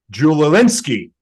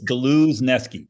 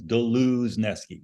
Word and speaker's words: Dluzneski: Gentlemen please welcome julolinsky did I do it right oh God you were close it's galuzki you just pronounce all the letters it's funny because normal